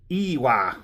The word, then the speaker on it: Iwai: Today's full review episode is going to be of a ewah. Sounds like u sounds like ew. Ewa. So that's exactly how you pronounce it.